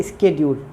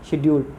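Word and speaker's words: schedule: शेड्यूल की जो correct pronunciation है वो है स्केड्यूल, मगर हम पढ़ते हैं शेड्यूल, ठीक है।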